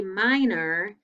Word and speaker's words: minor: circle the or and notice when we say minor it sounds like er even though it's or so it's kind of